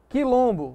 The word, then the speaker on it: quilombo: Note que o U aqui não é pronunciado. QU e GU, ó. Quilombo, você não diz quilombo.